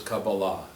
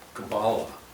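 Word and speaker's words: קבלה: pronounced in English uh because in Hebrew it's cabala in English it's cabala just the accent is on the different salable so um the word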